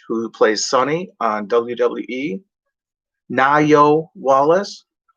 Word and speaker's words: Nayo: plays sunny on wwe nayo wallace it looks like neo n-a-y-o but it's pronounced na yo like that there's an h